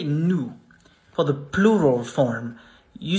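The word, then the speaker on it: nous: say not no not new the final s is silent how do you say nu for the plural form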